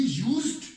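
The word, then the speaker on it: used: ही यूज्ड टू गो to school means होता डी वहां पर मौजूद है, लेकिन डी की आवाज जो है वो थोड़ी साइलेंट होती है।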